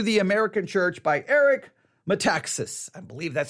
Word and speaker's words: Metaxas: Letter to the American Church by Eric Metaxas.